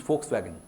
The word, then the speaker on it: Volkswagen: backfired so it can it is never pronounced as V it is pronounced as F and so your name